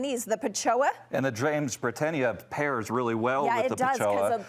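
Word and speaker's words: Jamesbrittenia: one is just full of blooms um let's pronounce it correctly the James brenia Safari dusk James brenia was another kind of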